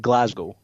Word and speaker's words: Glasgow: Gordon McGinnis how do you pronounce Glasgow you pronounce it Glasgow perfect there you go that's how you pronounce